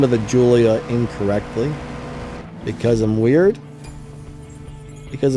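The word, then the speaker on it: Giulia: I know it's not a Gila. It's a Julia.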